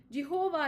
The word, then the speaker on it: Jehovah: Jehovah is an artificial pronunciation of the consonants JHVH or YHWH, root from Sanskrit. According to tradition, the word was pronounced Yabi. This seems to indicate Jehovah or Yahweh, a pronunciation adopted by many modern scholars.